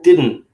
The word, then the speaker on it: didn't: Didn't. I didn't. Didn't. You're not. You're this. Didn't. The second D you're almost not pronouncing.